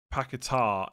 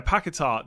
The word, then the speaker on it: Paquetá: Paquetá, emphasis on the tar. Yeah, Paquetá.